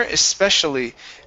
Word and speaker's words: especially: Especial Especially espe okay now the CI right here that is going to be pronounced like an sh ESP special especially es